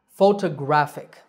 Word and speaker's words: photographic: photographer and similarly photography the last word is photographic so where is the stress the stress is on the third syllable graph photographic one last time photograph photographer